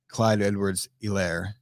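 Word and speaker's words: Clyde Edwards-Helaire: i'll use this it's the h is silent in in clyde edwards elaire e lair okay fine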